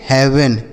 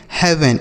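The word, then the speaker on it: heaven: क्या पढ़ेंगे हेवन, एच ई ए वी ई एन हेवन। ठीक, तो यहाँ पर ई ए का उच्चारण क्या हो रहा है मेरे भाई ए की मात्रा, dead हेड bread health हेवन।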